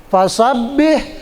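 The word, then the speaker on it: فَسَبِّحْ: Fasabbih, ba-nya tasdid. Ba yang bertasdid itu seolah-olah huruf double, maka bacanya agak ditekan karena dia double.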